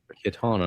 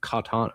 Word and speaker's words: Kitana: And uh all I was thinking is I think I think they're saying her name wrong. You know what I Kitana, not Katana.